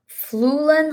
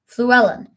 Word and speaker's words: Fluellen: I'm not sure how to pronounce that one. I'm going to look that up. How to pronounce because it feels like I've been saying it wrong this entire time. So let's find out.